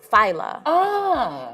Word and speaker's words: Fila: So my name is spelled like Fila, but it's pronounced Fila.